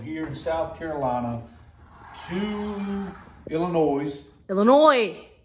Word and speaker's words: Illinois: in South Carolina two Illinois Illinois S no there's this on it it's silent then don't put it